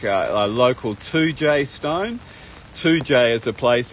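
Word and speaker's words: Toodyay: in the center there are like a local 2j stone 2j is a place in west australia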